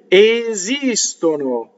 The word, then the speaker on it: esistono: This is an example of the anti-penultimate stressed. Second to the last, right? No, the second to the last, right? The syllable before the second to the last, if I'm being clear.